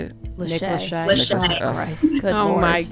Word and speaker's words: Lachey: Nick Lakey. Is that how you say it? Nick Lachey.